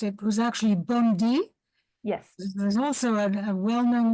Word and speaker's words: Bondi: the way the name of this lady has pronounced it was actually Bondi yes there's also a well-known one in Israel